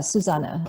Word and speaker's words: Susanne: Murray org yeah and the way you say my name is Susanna okay suzana it is held with an e at the end that's German so s usan and